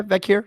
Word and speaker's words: Vaquer: bigger topic uh so Stephanie viir or vure is that yeah yeah vure that's how you say it y um who